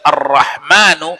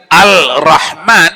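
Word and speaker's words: الرحمن: situ yang tak diamalkan memang tulisannya itu al-rahman tapi tak boleh baca al-rahman musti baju ar-rahman datang orangnya di bajunya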